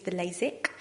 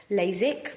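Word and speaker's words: LASIK: types of laser treatment first of all is lasic which is spelled with an ik and the other one sounds exactly the same but it's spelled with a EK lasac and the difference between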